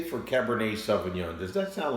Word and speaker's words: Cabernet: I would like a Cabernet Sauvignon. Just look how it's spelled. C-A-B-E-R-N-E-T. Looks like Cabernet. That's why a lot of people learning English say Cabernet.